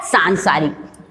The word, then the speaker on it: सांसारिक: अब जो ना है, ना की बिंदी यहाँ लगी है, पर ना का उच्चारण यहाँ आ रहा है, आधा ना का, सान सा, फिर आ की मात्रा री, अपन ने छोटा बोला तो रा में छोटी ही की और का, ये क्या हो गया, सांसारिक।